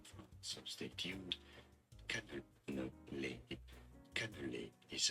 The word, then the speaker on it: cannelé: I need to know how to pronounce it. Extreme food names from France, so stay tuned. Cannelé. Cannelé is how it's...